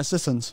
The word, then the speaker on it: Sissons: Is that how you pronounce Dana's last name? Sissons? Yeah, Sissons.